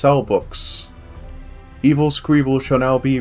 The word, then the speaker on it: Selbbeeuqs: Apparently it's pronounced Cellbooks.